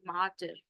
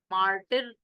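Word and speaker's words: martyr: कहते हैं माटर मार्टर इसम आर जो है ना बीच वाला आर वो साइलेंट होता है माटर मार्टर नहीं बोलते बोलते माटर तो लास्ट वाला आर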